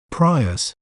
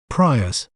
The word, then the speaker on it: Prius: word to better understand its pronunciation we may pronounce it as Prius Prius PRI us Prius an interesting fact about the